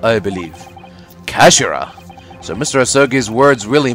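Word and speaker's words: 頭: end of the hilt it's written as head in japanese but it's pronounced as kashira i believe kashira so mr asaki's words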